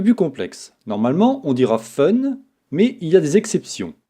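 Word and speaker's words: 分: c'est un peu plus complexe normalement on dira fun mais il ya des exceptions pour un 3 6 8 et 10 ont prononcera pun là aussi regardons un exemple pour dire il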